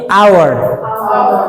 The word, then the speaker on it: hour: And hour itu bacanya bukan ya. Hour bukan tapi our itu bunyi konsonan atau bunyi vouel?